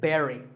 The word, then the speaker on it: buried: usually an important person is buried we say Barry now when I first heard this as a